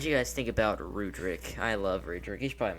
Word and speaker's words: Rudric: But He Rudrick just spells sounds so character's much more name wrong.